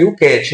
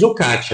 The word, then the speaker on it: YOUCAT: Porque quando a gente pronuncia em inglês, né, YouCat, né? Aqui no Brasil a gente também diz YouCat, né? Não tem problema, pode dizer YouCat também.